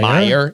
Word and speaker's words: Mayer: Meyer.